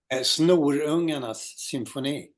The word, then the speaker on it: Snorungarnas symfoni: But Yeah, on this album, say the 76 album with Greg, pronounce that again. uh, Symphony. Snorungarnas symfoni.